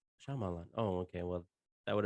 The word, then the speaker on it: Shyamalan: Shyamalan. Shyamalan.